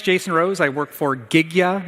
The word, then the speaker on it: Gigya: I work for Gigya, is actually how the company's name is pronounced.